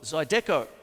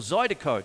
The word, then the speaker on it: Zydeco: And what happens is there's also another style called Zydeco, or Zydeco, depending on how you want to pronounce it.